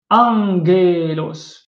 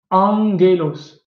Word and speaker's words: Angelos: Angelos. Donc, ge, comme genos ici, hein, ge. Mais le premier gamma, il se prononce N. Comme dans ange en français. Ange. Angelos. D'accord? An. Comme si c'était un N.